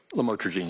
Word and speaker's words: lamotrigine: the drugs, about the Lamictal, otherwise known as lamotrigine. Did I pronounce that right? Lamotrigine, yes.